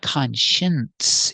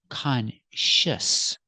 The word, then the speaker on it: conscious: conscience what's the difference there's no n it's not conscience it's conscious you have the shsh sound for the second syllable sh Clos sound H sh and the S sound s together consious conscious put the stress on the first syllable conscious conscious is an